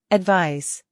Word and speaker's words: advise: advise, 충고하다. 조언하다. advise, advise, 충고, 조언은 명사로 advice라고 하고 충고하다, 조언하다는 동사로 발음이 advise입니다. advice, advise 기억해 주세요.